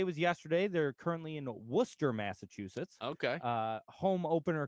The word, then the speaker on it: Worcester: show uh Stone says Worcester Mass stand up I appreciate you pronouncing it correctly people butcher that that's the Worchester one yeah Worchester um yeah